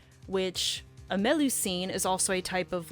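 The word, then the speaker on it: Melusine: like true names so this lancelot's true name is meloine I think is how you say it m e l u s i n e which a melu scene is also a type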